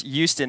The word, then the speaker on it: Houston: uh Houston yeah I know it's Houston not H I don't know why